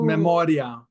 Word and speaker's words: memoria: If you put an accent mark over the I, then it'd be memoria. Right. There's no accent there, so that IA makes one syllable. So then it's pronounced memoria. Okay.